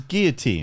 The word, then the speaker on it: Guillotin: yeah right so Mr Guillotine it slight different pronunciation giltin guillotin no it's even further honestly his name it doesn't matter no his name is Guillotine so what he said